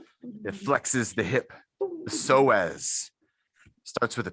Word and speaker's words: psoas: with a p ps the p is silent why do we have